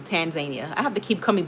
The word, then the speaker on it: Tanzania: See, I said tar. It's supposed to be tan tan. Um yeah, see with an N. Tanzania.